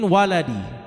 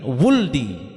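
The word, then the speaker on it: ولدي: Salah satu anak dari Ali bin Abi Thalib, min waladi ya bisa juga membacanya min wuldi ya dengan mendomahkan wau dan mensukunkan lam.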